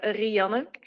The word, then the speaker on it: Rianne: In Dutch, you would say Rianne, which has a strong focus on the R, but it's difficult to pronounce. So I always say that it resembles the name of Rihanna, but I don't sing.